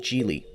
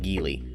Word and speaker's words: Geely: and the largest one offered by chinese manufacturer gili yes it's pronounced jili not gili jili has been making waves in the automotive